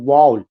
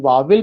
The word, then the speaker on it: vowel: तो लगा हुआ, तो नॉट वावेल बट the correct pronunciation is वाउल।